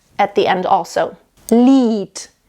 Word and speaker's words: Lied: Lied. So it's not Lied, it's Lied. It actually sounds like a T.